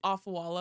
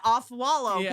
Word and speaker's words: Afualo: your house oh no pronounce it off wallow yeah off wallow I was like oh